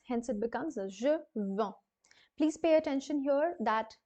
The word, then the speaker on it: vends: Please pay attention here that this is not sounded as je vende, because the D and the S both are consonants, and hence this will remain silent. You have to pronounce it as je vends instead of je vende.